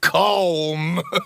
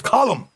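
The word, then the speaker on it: Colm: it's not cold calm it's column in ireland we say column well uh he likes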